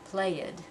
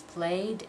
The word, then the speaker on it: played: you're pronouncing those sounds I don't want to hear anybody say roll it or play it okay remember it's played and rolled so pay attention